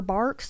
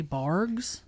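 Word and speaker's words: Barq's: It is spelled B-A-R-Q-S. So maybe just some people think it's a G by the way it looks on the can and they say Barks.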